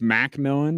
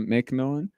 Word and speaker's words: Macmillan: It's Macmillan, not McMillan.